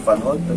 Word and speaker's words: Van Houtten: Dan memang Muhammad Charlie Van Houten, walaupun dengan pakai P gitu. Tapi kan memang namanya diucapkan Muhammad Charlie Van Houten, bukan Casmali Parli.